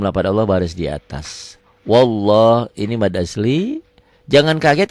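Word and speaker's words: والله: yang berbunyi seperti ini lafad Allah yang sebelumnya baris di atas seakan-akan ada w-nya wallah wallah jangan wallah wallah bismillah Iya lillah Iya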